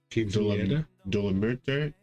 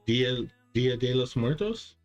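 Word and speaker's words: Día de los Muertos: Dolomerte? I'm saying it wrong. Dia de los Muertos?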